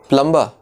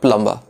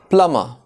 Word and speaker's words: plumber: No, not plumber. There are two ways of pronouncing this word. In British English, it is pronounced as plumber. Plumber. As you can see, both B and R are silent.